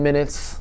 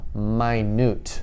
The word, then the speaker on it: minute: five minutes there's 10 minutes right but there's also my newt they're spelled the same way m-i-n-u-t-e but one is minute talking about time and one is minute which means small okay and let's do